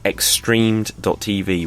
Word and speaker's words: XStreamed.tv: So if you just heard that and it was a big jumble, the way to think of it is the letter X and then the word streamed, like I streamed a